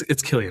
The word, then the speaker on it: Cillian: It's Cillian, right? It's not Cillian. Okay, there's no soft C in There's no soft Gaelic.